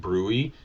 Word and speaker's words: bruit: Okay, bruit is, and that's how you pronounce that, bruit.